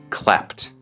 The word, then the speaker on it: clapped: To Clap o aplaudir el último sonido en Clap es entonces decimos cl cla en pasado no decimos cla no decimos Clap decimos clapped te pongo un ejempo la